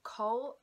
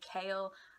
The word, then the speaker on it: Chaol: The character of Cole, that's how I'm pronouncing his name. I've heard lots of people call him Kale.